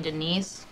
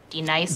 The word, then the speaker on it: Denise: You mean Denise? Son of a bitch! You say your name right now. Denise? Say it right. Denise. Correctly. Denise. Right. Denise. Right. D-Nice. That's better.